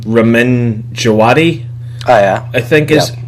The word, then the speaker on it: Ramin Djawadi: Ramin Djawadi, Oh yeah, I think is I've heard his that name is.